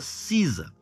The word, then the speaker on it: SZA: show da Sisa né que Sky sza mas se pronuncia Sisa e ela foi recebida